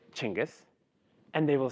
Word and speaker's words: Cengiz: On a good day, somebody who meets me for the first time will say, how do I pronounce your name? I will say Cengiz with a smile, they will say Cengiz with